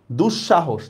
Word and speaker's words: দুঃসাহস: দুঃসাহস, দেখেন শটা আমাদের দুইবার উচ্চারণ হয়েছে।